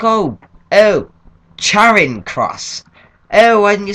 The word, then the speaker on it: Charing Cross: like well sorry but I've always pronounced it Shing cross not Shon or Charing or whatever other you want to call it I I've always pronounced